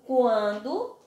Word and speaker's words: quando: Já quando eu digo quando, a palavra quando, em QU aí, eu não tenho dígrafo. Por quê? Porque eu pronunciei o som do U.